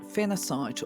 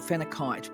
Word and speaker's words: phenacite: we'll be talking about Phenacite, or some people call it Phenakite because sometimes it's spelled with a C and sometimes with a K, but whether you call